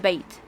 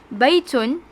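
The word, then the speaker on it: بيتٌ: just say ha the bait bait we don't pronounce the last sound but since we are learning arabic it is important for us to know the last sound and to pronounce the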